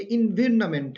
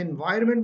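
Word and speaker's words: environment: यहाँ पर भी देखिए, ये इन्विरनमेंट है, इन्विरनमेंट, VIRON, इन्विरनमेंट। इससे याद करेंगे तो आपको स्पेलिंग मिस्टेक नहीं लगेंगे। जब आप इसे इन्वायरमेंट बोलेंगे तो फिर आप VIOR लिख रहे होंगे, तो इसके स्पेलिंग में भी आप क्या करते हो?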